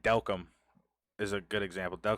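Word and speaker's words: Delcambre: it the way that it's spelled it spells Del cambrie but it's pronounced delcom I don't know it's crazy it's weird but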